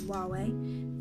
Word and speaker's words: Huawei: Some might call it Hawaii, but I'm pretty sure it's Huawei P20.